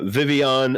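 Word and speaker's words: Vivillon: lot of love for vespa queen so uh vivion a new 427 that is definitely how it's supposed to be pronounced um in the japanese it's a y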